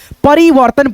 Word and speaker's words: परिवर्तन: आप देख रहे हैं किसी अक्षर पे अगर ये रहेगा ये मात्रा बोला जाता है र का यानी जिस अक्षर पे ये रहेगा उस अक्षर से पहले र का उच्चारण आएगा जैसे परी व फिर दोस्तों आधा र त आ न परिवर्तन पढ़ेंगे फिर यहां पे देखो